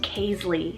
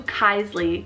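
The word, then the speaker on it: Kaisley: boys side i have the name casely called k-a-i-s-l-e-y or you could do kisly to have that nickname kai but you have that l-e-y ending just like paisley tinsley all of those and this one's american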